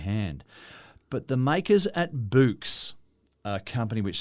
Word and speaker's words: Boox: This is just It's an Boox. example. I'm not sure how you say it. I assume it's a kind of a play on books. Yes. But it's said with a Scottish accent.